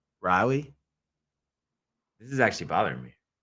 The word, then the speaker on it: Raleigh: It's not Raleigh. No, it's Riley.